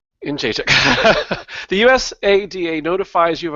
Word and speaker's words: Jędrzejczyk: Yes, I remember the video when you had the syllable by syllable correction. Jędrzejczyk. Jędrzejczyk.